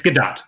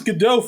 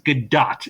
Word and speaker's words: Gadot: Gal Galadat or Galado, however you pronounce it. Is it Gdat? It's Gdat. Yes. I thought it was GDAU for like the longest.